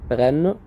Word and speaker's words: prennent: خلي بالكم احنا ما ننطقناش ال e n t في الافعال خالص، لا تنطق ابدا في الافعال. prennent، mangent، boivent.